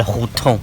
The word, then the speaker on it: Hutong: Maintenant, vous êtes dans la vieille ville de Pékin, la maison sans étage, la petite ruelle, on s'appelle Hutong. D'accord. H-U-T-O-N-G, on prononce H comme R.